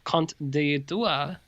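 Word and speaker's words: Conte d'été: summer's tale from 1996 or conte dua is the french pronunciation of that film sure i got one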